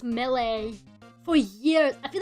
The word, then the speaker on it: melee: Then I was like, oh yeah, it's Millie. And then turns out it's Melee.